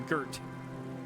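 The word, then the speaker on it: Garte: Oh, sorry. Gert. Oh, yeah. I was mispronouncing it.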